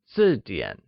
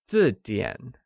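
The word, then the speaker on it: 字典: 那不是本字典, where dictionary is 字典. 字典 is pronounced with a falling tone on I and a falling rising tone on A, like 字典.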